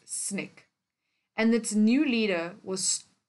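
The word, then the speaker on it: SNCC: a group called students Nonviolent Coordinating Committee pronounced as snick and that new leader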